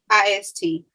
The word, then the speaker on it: Zeitgeist: How do you pronounce it? Zeitgeist. Zeitgeist. Yeah. Zeitgeist. Zeitgeist. It's Zeitgeist.